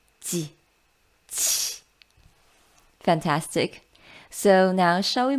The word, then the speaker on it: qi: To remember it, pronounce ji again, then push the air out a bit harder. So it's ji, qi.